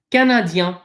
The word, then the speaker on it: Canadien: These last three letters in Canadien, okay, they are pronounced yen. Yen. Yen. Okay. It's not yen. It's not yon. It's yen.